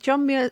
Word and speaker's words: Muir: Is it John Muir?